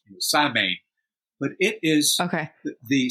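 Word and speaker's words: Samhain: the witches come out well Ireland has they pronounce it sa way although it's written s a m a i n in English we'd say sine but it is okay the celebration of the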